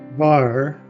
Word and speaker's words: Hvar: Hvar is pronounced somewhat like it is spelled with the H almost silent.